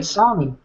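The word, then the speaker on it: Ahtanum: Atanum, which Atanum. The way you can remember how to say it is it's a Glaswegian tanning bed operator's job description.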